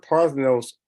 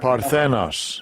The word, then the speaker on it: Parthenos: Okay, so you see, the Greek word Parthenos comes from the word, what comes from the Greek god, who is Athena Parthenos, who's an actual virgin in the mythology.